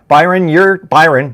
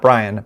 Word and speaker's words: Byron: Byron, not Brian.